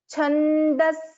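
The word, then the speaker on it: छन्दःसारा: So because there is a visarga, so the pronunciation is slightly different in this case. Chandasara, Chandasara, Chandasara, Shastrasara, Shastrasara,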